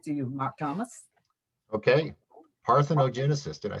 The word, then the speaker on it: parthenogenesis: word here listen to the pronounce but the pronunciation parthenogenesis parthenogenesis and what it means is reproduction from an